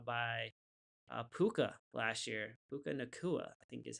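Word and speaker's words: Nacua: Puka Nakua, I think is how you pronounce it.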